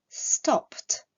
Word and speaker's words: stopped: Le verbe stop se terminant par un son sourd, la terminaison ed se prononcera t, stopped.